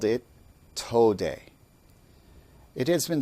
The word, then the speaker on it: Tode: systems and called it Tode. It has been spelled phonetically many different ways to approximate the pronunciation. For this lesson, I will spell it T-O for toe and D-E for day.